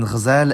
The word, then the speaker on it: غزال: The stress depends on the pattern, but to start easy, if there's one long vowel in the word, that vowel is stressed, like in ghazal and shakhna.